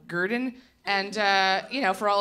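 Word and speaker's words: Grdn: in Brooklyn but uh they spell it gr d n so Gurdon and you know for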